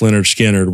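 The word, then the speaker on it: Lynyrd Skynyrd: is up there for me um let's see pronounced Leonard skinnard would have to be on there for me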